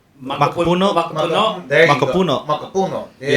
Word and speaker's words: macapuno: Mocopundo? Macapuno? Macapuno.